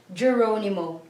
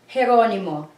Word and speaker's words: Geronimo: we don't say George Geronimo. If it is in the last name, it's usually from the Spanish last name. So we pronounce G here as H. So we say George Geronimo, not George Geronimo.